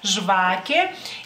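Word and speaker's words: žvakė: lituano es Shake Shake A lo mejor Esta sí se les complique de pronunciar esta palabra digamos así por la J que tiene Pero bueno intenten svake Y si es en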